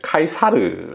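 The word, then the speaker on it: Caesar: 만 좀 쓰는 표현인데요 사실은 영어로 하면 씨저 구요 라틴어로 발음을 하면 카이사르 라고 할 수 있겠죠 카이사르 혹은 시절을 우리말로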